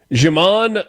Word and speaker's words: Djimon: I just kind of assumed that we were dropping the D and going with Djimon. Djimon.